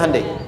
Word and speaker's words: Hyundai: bikin Honda sini Handai hyundaikan dibacanya Handai sana Honda apapun yang